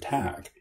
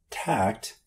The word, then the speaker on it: tack: Well, yes, you try a different tack. You try a different course of action. Not tact, but tack. A different tack. Tact has to do with being tactful.